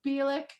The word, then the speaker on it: Bielich: do you say last name last name is bielik mary this is mary bilick she is in the band de kedah decatur